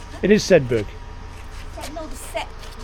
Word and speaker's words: Sedbergh: Churches together in Sedbergh and district.